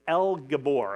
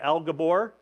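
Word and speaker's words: אל גבור: there's a good chance you guys guys can pronounce them but the words the word mighty God in Hebrew uh is El Gabor I'm going to let you say that with me El Gabor okay so the first part L that's just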